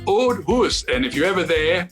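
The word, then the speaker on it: Auld Hoose: unusual scottish words but they spell it diane a u l d huss h double o s e the old huss and if you're ever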